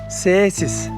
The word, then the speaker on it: Cēsis: I'm in Cēsis. In their native language, they pronounce it with a slight extension of the first "e," but I'll use "Cēsis" throughout the video for ease of use.